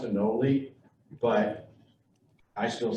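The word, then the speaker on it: anole: even wrote in a paper he said it's pronounced enoli but i still say a null even admitted that he pronounces it wrong which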